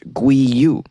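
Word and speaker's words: 鮭魚: with the chinese characters for salmon which is pronounced gui you if they had that in their name they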